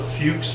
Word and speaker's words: Fuchs: to is called the Fuchs method careful how you pronounce that it's it's not the other pronunciation it is a few submitted this one is